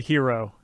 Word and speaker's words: gyro: It's not gyro. It's not gyro. Is it gyro? Is it gyro? I think it's euro.